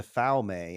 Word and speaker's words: Falme: Let me say real quick, Falme, that's wrong. It's Falm.